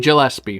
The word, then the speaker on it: Gillespie: ellipse II get guys you say his name Gillespie oh thank you who worked on the Academy